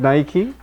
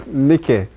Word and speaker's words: Nike: That reminds me, the first time I read Nike, it was Nikkei.